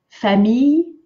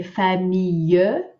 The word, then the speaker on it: famille: Famille, make sure you don't say famille, famille, two syllables, the M, E, I are all in one, me, famille.